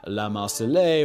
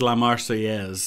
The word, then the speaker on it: La Marseillaise: than simply say singing la Marseille while dancing around to guilty I think it's La marseillaise is how it's pronounced but it would still